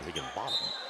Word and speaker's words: Higginbotham: Yeah, they kind of spell it bottom, but I've been over there a few times. Of course, in the same district, football-wise. Right. And I asked some of the home folk and a coach over there, and he said no. He said, we actually pronounce it Higginbotham.